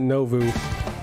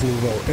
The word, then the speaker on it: nouveau: Or is it Novu? Always pronounce it Novu, but I think it's nouveau.